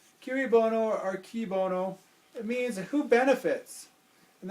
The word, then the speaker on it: cui bono: It's spelled C-U-I-B-O-N-O. Cui bono or qui bono.